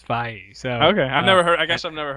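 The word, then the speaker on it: Feige: pronounce his name I always thought it was feij when I hear it pronounced it's F so okay I've never heard I guess I've never heard and that actually sounds like a name as opposed to feed I always thought it was Kevin feed go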